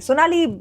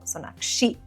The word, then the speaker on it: Sonakshi: Sonali a lot. I get that a lot. In fact, at airports and all, oh Sonali ji, Sonali ji. I'm like no, Sonakshi ji.